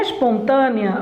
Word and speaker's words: espontânea: tem aqui ó espontânea em espontânea você tem ó a tonicidade está na penúltima sílaba você tem ó espon tnea es pona se na penúltima sílaba você tem aqui uma paroxítona tá é uma paroxítona terminada em ditongo Mas